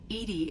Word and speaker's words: EDI: airlock is a jar why are you named Edie Edy is the phonetic pronunciation of e that is an acronym for